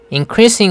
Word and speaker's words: increasing: Increasing 할 때 cree 하면서 세집니다. 스트레스가 가는 거죠.